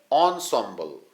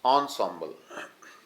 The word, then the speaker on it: ensemble: Here you can see the ensembles meaning, pronounced ensemble. I have pronounced it wrongly, sorry for that. This is pronounced ensemble. Things here, instruments considered as a group. जो वाद्य यंत्र हैं उनका एक समूह. So this is pronounced as ensemble.